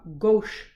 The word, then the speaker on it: gauche: a staggered conformation and we call this a gauche conformation which is spelled like